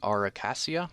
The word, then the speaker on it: Acacia: Here's another one from a popular brand, Acacia, I believe is how it's pronounced.